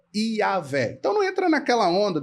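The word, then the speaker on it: Yahweh: vav nós teríamos aí um segol que seria um equivalente a um e e é uma vogal curta Então para que haja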